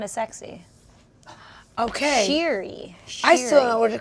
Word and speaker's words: Shiri: Yeah, so if you say like sheer, like something sheer, or Oh, sheer right. scissors. So why don't you spell it then S-H-E-E-R? It's like not as sexy. Okay. Shiri.